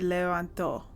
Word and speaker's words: levantó: I guess it would be levantó because the accent is on the O.